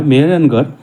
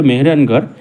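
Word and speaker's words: মেহরানগড়: তারা দুর্গের নাম দিয়েছিল মেহেরানগর একটি নাম যা দুটো শব্দ থেকে এসেছে মিহির বা সূর্য এবং গড়কে বোঝায় পরবর্তীকালে স্থানীয়রা ধীরে ধীরে মেহেরগারকে স্থানীয় উচ্চারণে মেহেরানগার নামে ডাকতে শুরু করে তাই এই দুর্গের নাম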